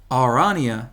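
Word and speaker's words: Aranea: Actually, I know how to pronounce it. It's got it right here. Arania.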